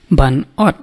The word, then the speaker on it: ban ot: You will see that in KHASI, most of the last letter that ends in T or D or P, the consonant letters, we don't usually pronounce, but we pronounce in such a way that it ends just in between. It is very particular in KHASI. So here it will be ban ot. You can hear the little T sound ot.